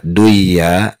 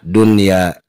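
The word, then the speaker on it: دنيا: dunia dan sinwan in kita tidak boleh membaca dwia dan see you want in tetapi bacalah dunia dan Sin one karena ada kaidah yang mengatakan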